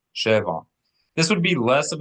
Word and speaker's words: שבע: Sheva, when you accent the first, is 7. Sheva.